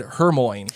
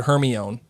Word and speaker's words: Hermione: Melissa asks, did anyone else mispronounce Hermione until the movies? For some reason, she said Hermione.